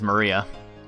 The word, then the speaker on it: Maria: Of course, it's pronounced as Maria.